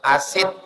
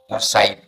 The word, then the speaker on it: Usaid: Jadi cara membacanya, kalau salah-salah dibaca orang asid. Dari asid. Salah. Bukan asid. Usaid.